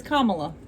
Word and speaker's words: Kamala: He says Kamala.